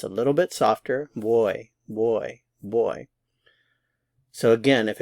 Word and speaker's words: voy: some Spanish speakers say boy boy boy it sounds a lot like the English word boy Bo y it's a little bit softer boy boy boy so again